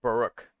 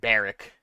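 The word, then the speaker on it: Barok: I said Barrick. I think that would have a CK if it was Barrick and an A instead of an O.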